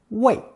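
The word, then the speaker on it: 位: rank or location and it's pronounced fourth tone weit weit given that weight means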